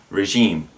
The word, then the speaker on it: regime: now i've heard this pronounced many ways regime or regime when in fact it's a soft sound as regime for example i want